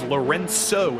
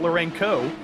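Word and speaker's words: Lourenço: Lorenzo Bonder, our resident Portuguese speaker, tells us that it is Lorenzo. It's a soft C. It's not Lorenco.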